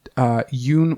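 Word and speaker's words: Dung: So Kaitlyn's boyfriend, his name was Yoon Wen, but it's spelled D-U-N-G. There was only one source. I'm pretty sure it was BuzzFeed that showed how to pronounce that, and he said it was Y-O-O-N.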